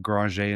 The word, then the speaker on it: Granger: We pronounce it Grajé in Louisiana as you correctly uh pronounced, Matt.